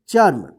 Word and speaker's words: चर्म: हैं रेफ की मात्रा तो इसका उच्चारण होगा जिस अक्षर पर लिखा रहेगा उसके साथ नहीं होगा उससे पहले जो अक्षर लिखा है यहां पर च तो च के बाद जो है आधा र का उच्चारण होगा इस क्या पढ़ेंगे चर्म देखि य प सु